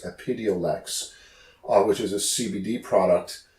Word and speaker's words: Epidiolex: I believe it's pronounced Epidiolex, which is a CBD product specifically that can be prescribed for seizure disorders.